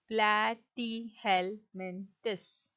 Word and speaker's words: Platyhelminthes: Okay, again I'm repeating, platyhelminthes. Okay, this is how you pronounce this word.